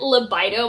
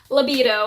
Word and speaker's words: libido: say this right cuz I said it libido my whole life and my husband always makes fun of me for it but it is pronounced libido and I'm going to